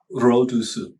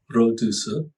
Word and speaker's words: 肉毒素: Rodusu. Yes. Okay. Is that, I thought that Chinese didn't really have the R that much. Rodusu. 肉毒素. Rodusu.